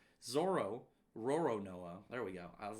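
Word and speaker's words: Roronoa Zoro: Oh my god, his name is so hard to pronounce. Zoro Roronoa.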